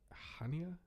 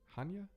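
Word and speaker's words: Chania: to Crete and um I think it's pronounced hania Hanya I think but it's like c-h-a-n-i-a it's like a uh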